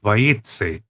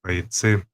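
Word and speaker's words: Vayetzei: E por isso a Parashat tem o nome de Vayetze, ou Vayetze. A pronúncia está mais próxima do S, então por isso a gente escreve Vayetze, mas a maioria dos Kahalotes colocam a letra Z, também Vayetze.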